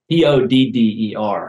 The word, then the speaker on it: Todder: Could you spell that, please? T-O-D-D-E-R.